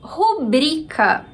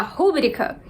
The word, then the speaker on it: rubrica: Rubrica. Rubrica. Brica. Então, bri é a sílaba mais forte. Muita gente no Brasil tem vontade de falar rúbrica, mas não é essa a forma ideal, é rubrica.